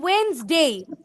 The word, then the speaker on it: Wednesday: Saturday yes I is silent then Wednesday Wednesday বলো কিন্তু তোমরা D letter silent Wednesday.